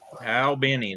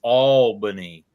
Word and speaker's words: Albany: from from Al Benny Georgia Al Benny that's how they said it down there Al Benny and so they uh they went up north and found themselves in New York at a place that spelled the same but the one says to the other he said they don't say it like we do it's spelled the same but it's not Alin it's alany couldn't believe him and